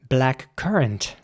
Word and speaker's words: blackcurrant: And again, it's important to pronounce the C in the middle like a K. So it's blackcurrant, not blackcurrant or something, but black currant.